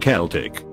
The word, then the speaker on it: Celtic: First, Celtic should really be pronounced Celtic.